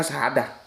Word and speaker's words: syahadat: Enggak pakai sebetulnya hikmah, tapi tulisannya hikmat ya sudah. Seperti syahadat tuh harusnya bacanya syahadah. Ya.